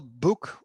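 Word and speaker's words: boek: oh you oh sorry o e is not difficult because there's also equivalent in english is uh ooh you you've got something oh there's no problem which is cow book so we spell book b o e k is a book same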